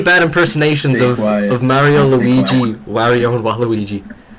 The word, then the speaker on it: Mario: One of my biggest pet peeves, though, is when someone mispronounces Mario as Mario. It's not Mario, you idiots. It's Mario.